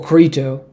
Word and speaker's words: Crito: In the Crito, or Crito, whichever way you want to pronounce it, which was, it is